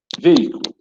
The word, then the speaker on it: veículo: preste atenção nessa aqui veículo veículo a separate ó o veículo a penúltima sílaba mais forte então é acentuada apressou pela regra do